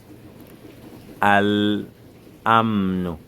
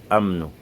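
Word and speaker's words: الأمن: On ne dit pas amnu. Pourquoi hamza après l'amun ne porte pas shadda? Parce que quand on dit al-amnu, il n'y a aucun problème, aucune peine. Il n'y a pas une lourdeur dans la bouche.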